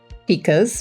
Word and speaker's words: pika: These are pas or pikas maybe depending on how you pronounce it.